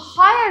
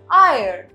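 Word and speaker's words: heir: इज हायर हायर right but इसको हम हायर नहीं कहते हम कहते हैं आयर राइट सो दैट इज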